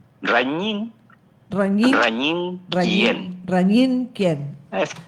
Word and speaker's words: Raguiñ: Ragín Ken o decime cómo se pronuncia, eh, Rañín.